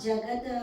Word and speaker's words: jagat: Jagat viparivartate. So no after the da. Okay, Jagat. Yeah, no Are you reading from the Devanagari? English. So you see, after the D, there's no A.